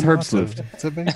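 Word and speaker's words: herbstluftwm: window manager is called it's Erbs roof so there you go you say tomato I say tomato it is hurt salute it's a German word and the other one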